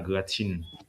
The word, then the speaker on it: gratin: Um, go hold on with the pronunciation. What do you call it? Yellow banana gratin. Graten. Gratin. Yellow banana. Gratin. Yeah. French.